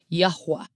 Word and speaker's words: Yahweh: So we know that the Father's name is Yahweh. That's how I pronounce it, Yahweh. Okay? And even to this day, the Cherokee still pronounce it as Yahweh.